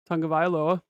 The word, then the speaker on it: Tagovailoa: Tua, pronounce his last name for me, Tagovailoa.